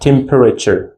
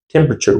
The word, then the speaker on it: temperature: Not temperature. We're not pron like this temperature. Temperature. Why? You see the e sound. E sound is silent which we do not pronounce them.